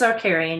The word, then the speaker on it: Archarian: Is it Archarian series? It's Archarian. Yeah, you got it.